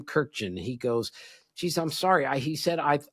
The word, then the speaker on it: Kurkjian: The guy, the co the host introduced me as our guest, Tim Kajerkin. That's what he said. So, I mean, look, my name our name has been butchered more times than anybody. So, but I did have to explain. All right. It's actually Tim Kirken.